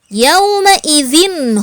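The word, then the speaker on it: يومئذ: termasuk huruf Izhar maka yawma-idzin house yah dibacanya harus jelas yawma-idzin Kho izin Ho jangan didengungkan jangan riaume izin ho salah yang betul adalah yaowei izin khosyi'ah maka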